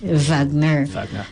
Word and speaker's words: Wagner: pronounced with a V Wagner so the Nordic Germanic countries that's how they pronounce it you spell it with a W but you pronounce it with a V so Pino pronounced in